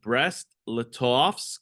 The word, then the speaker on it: Brest-Litovsk: So, March 3rd, 1918, Lenin signed the Treaty of Brest-Litovsk.